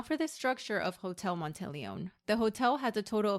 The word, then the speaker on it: Monteleone: be talking about hotel montelone and before I start I did look up the pronunciation it's an Italian word correct pronunciation is montelone